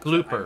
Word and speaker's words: Glooper: that Glooper. I'm very used to its handling. It's pronounced glooper. Bloopers are the white ones.